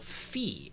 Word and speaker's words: fi: So this is going to be sung as the syllable fi, as in fi. Now, why is that the case? Well, there's a tendency in solfege to take a regular note, and when you sharp it, you turn its vowel into something that rhymes with e. So fa becomes fi when it's been raised by a half step.